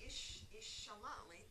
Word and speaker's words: ishalali: Chishalali. You said chishalali? Yeah. Can you also say ishalali? Yes. I'm sorry, ishalali. I didn't say it right first.